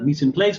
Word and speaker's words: mise en place: Mise en place. It is mise en place. Yes. I think that's how you say it, mise en place.